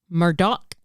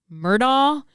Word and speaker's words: Murdaugh: But they even specified in the trial that you can say it any way you want to say it. Okay. Just based on your accent. So I might say Alex, and I might say Murdaugh or Murdaugh.